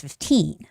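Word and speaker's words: fifteen: word is Radio 15 you shouldn't say 50 because it's going to sound like 5 z uh 5 Z right so it's not 50 but it's 15 15 okay so I'm going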